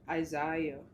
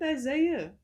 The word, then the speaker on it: Isaiah: What about Isaiah?